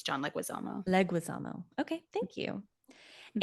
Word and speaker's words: Leguizamo: the time, but you probably know how to pronounce every actor correctly. So did I say Well, John Leguizamo correctly? it's John Leguizamo.